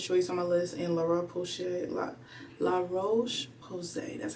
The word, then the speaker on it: La Roche-Posay: I have Paula's Choice on my list, and La Roche-Posay, that's how you say it.